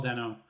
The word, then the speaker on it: Dano: Dano? Paul Dano, Riddler.